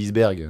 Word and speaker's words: iceberg: dire iceberg ouberg toi non normalement la prononciation c'est eberg mais personne dit isberg en fait il y